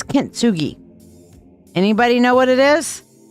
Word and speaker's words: kintsugi: now what is katsugi kitsugi I'm saying it wrong I'm sorry what is K kitsugi can anybody tell me what kitsugi is i' I've alluded to it several times what is kintsugi anybody know what it